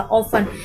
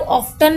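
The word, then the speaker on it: often: ऑफन, इसको कई लोग ऑफ्टन भी पढ़ते हैं, बट अगर मैं आपसे कहूँ कि सही प्रोनाउंसिएशन जो इसकी है वो ऑफन ही है। ठीक है, टी इसमें साइलेंट होता है।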